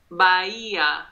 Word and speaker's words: Casas Bahia: yeah Casas Casas Maria Maria Maria Maria ye Baia that's right castles bye-yay Casa Maria very good yeah what kind of